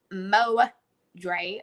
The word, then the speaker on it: Modre: It's MoDre, but it's spelled MoDR with a 3.